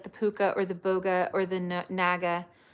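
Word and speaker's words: Bogge: the puka or the Boga or the Naga sorry the bog I think it's pronounced bog the puka or the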